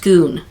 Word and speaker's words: Scone: the stone of schoon so it's spelled like scone like the Italian scone but it's really pronounced schoon so the conclusion was